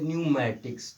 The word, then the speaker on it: pneumatics: और जब पी के तुरंत बाद एन आ गया तो उस स्थिति में पी प्रायः आपका साइलेंट होता है, अर्थात पी का उच्चारण नहीं किया जाता है, ठीक है। जैसे कहा जाए, एक और एग्जाम्पल समझते हैं, PNEUMATICS, ठीक है। इसको क्या पढ़ते हैं? तो इसको पढ़ते हैं न्यूमैटिक्स, ठीक है।